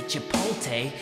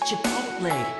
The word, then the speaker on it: Chipotle: that too presumptuous and please don't say chipot because it's Chipotle it rhymes like little moco saying you're special